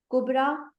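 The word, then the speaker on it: كبرى: मगर ये एक तरह से अलिफ की आवाज निकाल रही होती है, या की आवाज नहीं निकालती। ठीक है। यानी या साइलेंट होता है और ये रा, यानी जो है वो खड़ी जबर में रा की आवाज निकलती है।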